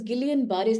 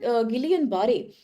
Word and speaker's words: Guillain-Barré: There are different pronunciations throughout the social media, so don't get confused there. So normally from American pronunciation, people call this Guillain-Barré syndrome.